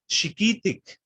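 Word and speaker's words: chiquihtic: And this is chiquitic. The stress is always on the second to last vowel, by the way.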